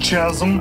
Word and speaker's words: chasm: It's pronounced chasm.